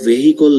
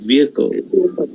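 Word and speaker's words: vehicle: great দ্বিতীয়টা এটা কিন্তু ভেহিকল না এটা কিন্তু ভেহিকল না এখানে এইচ এর উচ্চারণ হবে না হ্যাঁ এটা ভিকল উচ্চারণটা কি এটা ভিকল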